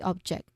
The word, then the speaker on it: object: That's that's the that's the act of throwing the object. Okay. The stress is on the first syllable.